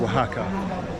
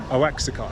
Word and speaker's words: Oaxaca: had a picture of Waka and back then I didn't know it was called Waka I thought it was called AXA interestingly enough there's a